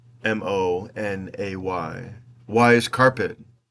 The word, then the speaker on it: Monet: If Monet's name is pronounced Monay, why is carpet not carpe?